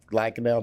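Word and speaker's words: Lankenau: at bryn mawr and lacanao hospital pronounced correct lackadaille do they do that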